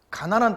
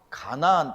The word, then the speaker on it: 가나안: 가난한 땅이 아니에요. 발음을 정확히 하셔야 돼요. 가나안 땅이에요.